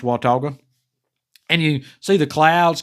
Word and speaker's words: Watauga: yeah it's watauga lake uh and it is pronounced watauga and you see the clouds kind of form